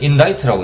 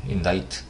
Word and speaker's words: indict: 자, 이것은 그냥 단어 그대로 읽으면 indict인데, dict, 이 C가 발음이 안 됩니다. 그래서 이것을 읽을 때는 indict라고 읽게 됩니다. indict.